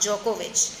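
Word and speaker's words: Djokovic: इसको क्या करते हैं हम इसको पड़ते हैं नोवाक जोकोविच नोवाक जोकोविच दी साइलेंट है जो को और वेस्ट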